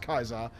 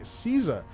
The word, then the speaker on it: Caesar: thank you it's prudentially originally pronounced kaiser but the english say caesar interesting very much uh